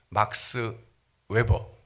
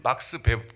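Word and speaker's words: Max Weber: 그게 누구냐면 막스 웨버. 예. 이 막스 베버, 독일식으로는 저게 막스 베버라고 읽어야죠.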